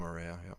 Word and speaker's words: Araya: howhow do you say his last name Tom Araya yeah from Slayer yeah yeah so you can